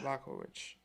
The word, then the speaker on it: Jan Blachowicz: Blachowicz.